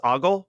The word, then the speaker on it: Ogle: I believe it's Rex Ogle. Is that how that's pronounced? Yeah. I finished reading Ogle.